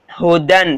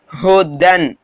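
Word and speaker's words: هُدًى: ஓகேங்களா, கன்ஃபியூஸ் ஆக தேவையில்ல, ஹுதன் சொல்லுங்க, ஹுதன் அதாவது யா சைலண்ட் ஓகேங்களா, அந்த யா சைலண்ட்டு கீழே அலிஃப் சைலண்ட் ஓகேங்களா, இழுக்கெல்லாம் தேவையில்ல, ஹுதன் அது இந்த யா அலிஃப்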